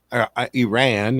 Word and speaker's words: Iran: You can go back, man, the pictures of the 60s and 70s, Iran is the proper way to say it.